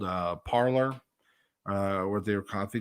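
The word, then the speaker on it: Parler: to twitter called uh parlor uh with their copy they were pronouncing it parlay but it was like spell like parlor or something i'm not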